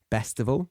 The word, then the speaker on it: Bestival: So check out the likes of Glastonbury Festival, Reading and Leeds festivals, the Isle of Wight festival, Bestival, spelt with a B, Bestival.